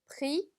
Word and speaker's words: prix: prix. 자, 마지막 x 역시나 발음되지 않네요. 그래서 prix가 아니라 prix라고 보시면 됩니다.